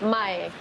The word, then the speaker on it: Mae: I know my name is a little bit confused, and obviously I'm not expecting everyone to know how to pronounce it or write it, but actually it's Mae.